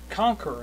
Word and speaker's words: QONQR: uh Windows Phone game conquer and Conquer is spelled Q nqr it is what they